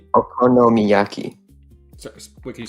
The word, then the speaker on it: okonomiyaki: Okomiaki. Wait, can you spell it out for me? Yeah. Oki y a k i. Ok. Okonomiyaki.